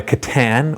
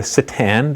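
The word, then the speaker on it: C'tan: We've got a Catan, or Satan, depending on how you pronounce it.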